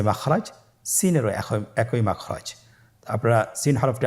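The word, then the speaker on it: س: Scene হরফটি উচ্চারণ ক্ষেত্রে অবশ্যই তিন আলিফ টেনে পড়তে হবে। সিন হরফটি বারিক হরফ পাতলা করে উচ্চারণ করতে হবে। তাহলে আমার সাথে বলুন সিন। আবার বলুন সিন।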